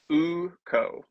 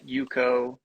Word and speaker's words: Ukko: band uh so the to go on record uhuh UK's Hammer uko not UK's Hammer not Yuko not AO yeah okay I was gonna ask what were the other mispronunciations yeah it's like AO and Yuko um okay are the pretty common ones which makes sense but it's It's uko Hammer beautiful so but a